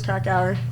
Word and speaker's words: Krakauer: By John Krakauer? Is that how you say it? Yeah, I think Kerouac? So. Krakauer. Oh, it is Krakauer.